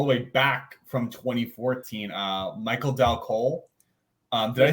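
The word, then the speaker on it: Michael Dal Colle: I have actually all the way back from 2014, Michael Dal Cole. Did I say that right? Michael Dal Cole. Yeah. Yeah. Wow. See, fuck you, Vogel. I can do it sometimes. He said it right.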